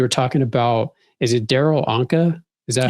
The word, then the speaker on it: Darryl Anka: I think part of your live I was on the other day, you were talking about, is it Darryl Anka?